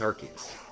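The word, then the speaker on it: Arceus: he's like hey abdalah it's arus I'm like yeah it was arus but then they changed it to make it you know a little bit safer archus it's archus anyway I digress here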